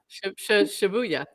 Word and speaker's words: Shibuya: How do you pronounce that? Shibuya? Shibuya? Shibuya puzzlers. Yeah. Shibuya.